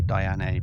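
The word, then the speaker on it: Diané: It's spelled Diane with an accent on the E. So, I say Diane.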